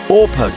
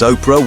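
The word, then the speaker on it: Orpah: world's most powerful individuals on January 29th 1954 Ora Gail Winfrey was born it wasn't a typographical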